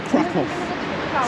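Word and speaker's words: Kraków: place like krakow and they probably crack off so that's another thing yeah so the cool crap crocodile krakow yeah even though spelling wise it ends with the w they call it off anyways so that's warso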